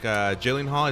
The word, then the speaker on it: Gyllenhaal: This is with Jake Gyllenhaal. Is that how you pronounce it?